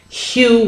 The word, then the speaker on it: Hu: It's pronounced like this. Hu. Hu.